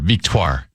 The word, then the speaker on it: Victoire: Victoire. Victoire. Victoire. Victoire. VEEK. The hyphen TWAHR. Victoire.